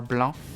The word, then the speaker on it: Blanc: game releasing uh tomorrow called blank or Blanc if you if you know how to pronounce French which is a cute